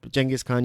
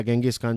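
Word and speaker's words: Genghis Khan: खान का जो पूरा ये चंगेज़ खान या गेंगिस खान, जो भी आप कहें, उनको प्रोनाउंसिएशन अलग अलग है, तो उनका साम्राज्य इतना बड़ा हुआ।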